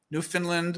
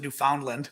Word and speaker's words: Newfoundland: of scandinavians today uk new finland which i learned to pronounce correctly a while ago um used to pronounce it newfoundland because you know pennsylvania